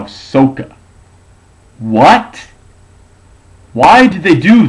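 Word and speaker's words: Sokka: pronounced in the movie Ang is pronounced Ang uh I think qara is still qara but Saka in the movie is now sooka what why do they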